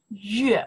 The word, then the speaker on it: 月: Yue. You know that? Yue. Okay, you say moon, right? Yue.